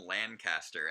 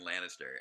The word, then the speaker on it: Lannister: So I referred to Tyrion Lancaster as if that were a person, instead of Tyrion Lannister, and that will haunt me for all my days.